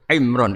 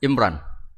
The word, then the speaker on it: Imran: Dari sana Bugis Imran, jadi orang sana nggak pakai ro. Kalau orang ro jadi pakai ra. Kalau ainnya? Ain pakai ain. Berarti apa? Imron gitu. Ya kalau sana tulisan KTP Imran. Apa bacanya orang-orang Sulawesi? Apa? Imran.